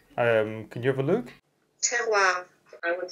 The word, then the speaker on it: terroir: It's called the Terror?